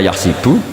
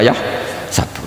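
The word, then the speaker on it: يحسب: Karena dalam qiraah sab'a ada yang baca yahsibu, qiraah kita baca yahsabu. Tapi guru-guru kita kalau ngajar fikih itu bacanya yahsibu. Tapi kalau baca Quran yahsabu. Ya kan Quran kita kan ayah sabu Allah yaqdiru alaihi ahad, bukan dibaca ayah sibu.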